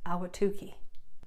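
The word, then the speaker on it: Ahwatukee: want a cold shower this community in the East Valley is pronounced ala Tookie this popular spot in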